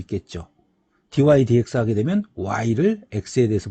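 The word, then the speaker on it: dy/dx: dy dx라고 읽습니다. 어떤 친구들은 얘를 dx분의 dy라고 읽더라고. 그렇게 읽지 않습니다.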